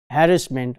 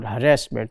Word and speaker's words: harassment: and another thing was harassment or harassment both pronunciations are correct so the issue uh